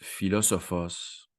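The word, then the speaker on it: φιλόσοφος: terme de philosophe hein qui en grec se prononce philosophos si vous ne savez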